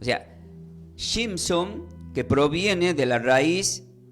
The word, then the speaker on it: Shimshon: En hebreo, el nombre Sansón se pronuncia como Shimshon, pero no son los